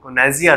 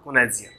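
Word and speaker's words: connoisseur: है तो that is very, क्या है वो, कोनाइजियर है. बोलिए और इसका स्पेलिंग देख लीजिए, सी वो double N ओ I double S ई यू आर, कोनाइजियर, ठीक है, जिसे पारखी व्यक्ति बोलते हैं.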